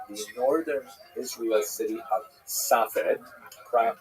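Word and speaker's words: Safed: northern Israel city of Safet pronounced in Hebrew spat or spas.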